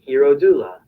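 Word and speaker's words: Hierodula: you pronounce it nah it's like h e i you know r-o-d-u-l-a hero doula hero i used to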